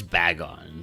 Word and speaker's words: Bagon: Well, it's Bagon, so, you know, like Dragon.